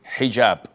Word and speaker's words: hijab: What you're referring to is hijab with an H.